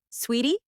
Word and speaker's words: suite: We booked a luxury suite like suit, sweetie. It's sweet, not a business suit.